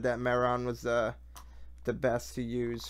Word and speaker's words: Mehron: I get the, I think it's pronounced Mehron. It's like Mehron.